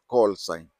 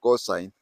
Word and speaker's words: call sign: we have something that is called coal sign call sign don't confuse it with co okay people pronounce it as cosine like uh you remember in maths we used